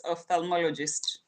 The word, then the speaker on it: ophthalmologist: Goga, I've pronounced it for you. Now you can say it. It's ophthalmologist.